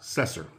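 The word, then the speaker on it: Cessair: granddaughter of Noah named cecer pronounced cesser who escaped at the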